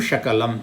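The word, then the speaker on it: शकलम्: Sakalam Shakalam. Sakalam means entirety. Shakalam means fragment. Sa and Sha, just you change it, the meaning totally changes.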